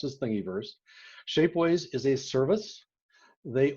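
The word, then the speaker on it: Thingiverse: thingyverse and yes that's the way it's actually pronounced as thingyverse shapeways is a service they own the printers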